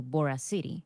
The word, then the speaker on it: Boracity: It's both because I tried making it like veracity, like the word with V, Mm-hmm. like veracity. But people also relate it, of course, to Boracity.